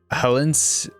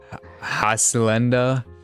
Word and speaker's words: Hacienda: Helens, however you pronounce that. Hacienda. Hacienda. There we go. Hacienda. There's no L.